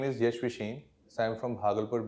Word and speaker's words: Yash Vishen: Sir, I pronounce it as YASH VISHEN.